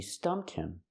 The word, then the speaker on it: stumped him: So I can use the verb and say, she stumped him. Stump in the past, stumped. She stumped him. We hear the h in him is silent because it's not an important word.